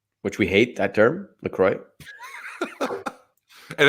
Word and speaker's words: LaCroix: just drinking lacroix which we hate that term lacroix and it's the actual way it's supposed to be pronounced according to the company uh my last